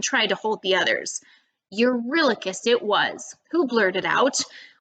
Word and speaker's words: Eurylochus: Eurylochus rhymes with reckless a little bit.